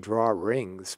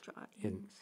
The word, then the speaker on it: drawings: Right, and it's spelled draw wings. I know. We pronounce it draw rings, but it's drawings or drawings. Drawings. I pronounce it drawings. It's the R in the New England accent. Yeah. We always put R's in when there aren't, and then take not them when they're right.